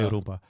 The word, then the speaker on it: rumpa: Oh, I can't roll the R. You don't have to roll it. Just say rumpa.